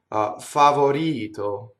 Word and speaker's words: favorito: If you look at the first word in the second line, favorito. See, now that R flips, and the reason for that is the R is surrounded by vowels.